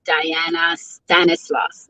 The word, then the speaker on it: Dayana Stanislaus: chat with our very very beautiful and lovely diana stanislaus did i say your name correctly i love it yes you pronounced it very well thank you so much